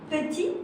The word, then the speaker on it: petit: Petit, that is a T, you don't pronounce it.